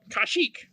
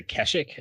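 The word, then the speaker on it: Kashyyyk: talk they're who cares there's different uh different pronunciations some people say kashik some people say kashik some people say kesik and those people are wrong they should we talk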